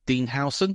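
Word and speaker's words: Dean Huijsen: that um is we've signed a player called Dean hon that's how it's pronounced it does look very very different but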